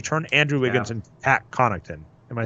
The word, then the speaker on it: Connaughton: You turn Andrew Wiggins and Pat Connaughton. Am I saying that right? Connaughton. Yeah, on the Bucks, yeah. Okay, yeah. Pat. from the Bucks. That Silent T that's crazy.